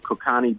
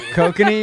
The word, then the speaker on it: Kokanee: We got some Kokani beer. Oh, Kokanese? Kokanee, you mean? Kokani, whatever. I don't know. Is that how you pronounce it? Yeah, kokanee.